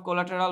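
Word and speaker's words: collateral: এই যে dirt of কোলাটেরাল। আচ্ছা, এটার উচ্চারণ কিন্তু কোলাটেরাল না, হ্যাঁ, এটার উচ্চারণ হচ্ছে কোলাটা, এটার উচ্চারণ কোলাটা। আপনি যদি একটু সার্চ দিয়ে দেখবেন কোলাটা উচ্চারণ হয়, বাট এটা আমরা বলি যে কোলাটেরাল উচ্চারণ।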